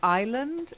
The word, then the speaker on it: island: a small island so island is a silent s and so I own